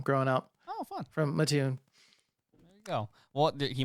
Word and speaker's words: Mattoon: It apparently is pronounced Mattoon, Illinois.